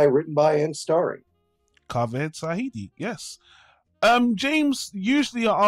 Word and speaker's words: Zahedi: i'm not entirely sure it should be uh sahidi okay uh directed by written by ann starry kaveh tsahidi yes um james usually